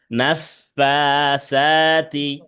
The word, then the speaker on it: نفاثات: ومن شر شر النفاسات নাফাতে খাড়া জবর আছে, সাতে খাড়া জবর আছে, দুইটাই টান হবে। নাফাসাতি نفاثات نفاسات ফিল উকাদ।